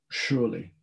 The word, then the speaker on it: Shirley: and that's a reference to thomas and robert surely because that's how their names would be pronounced um i think this is just the